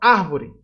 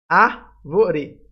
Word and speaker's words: árvore: Árvore. Letra B. Árvore. Tem acento aqui, ó, já dá para saber. A sílaba mais forte é o A, então vai ser a letra B.